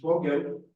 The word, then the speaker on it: Vogel: So it's a German word. I don't speak German. I'm sure plenty of people here will speak better German than me, but it means bird. It's a German for bird. It's Vogel. That means bird. Right, that's the German word. Yeah. That's the German pronunciation.